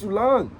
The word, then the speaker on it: Soulaan: As Sulong. Right? And so, um That's exactly how that is spelled.